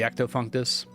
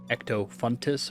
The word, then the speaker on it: Ectofuntus: Now that I finished Ghost Ahoy, I should be able to do the Ectofunctus. Ectofuntus apparently is how it's actually pronounced.